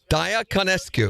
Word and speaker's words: Diaconescu: Diaconescu? Did I say it right? It's Dia, but yeah. Diaconescu.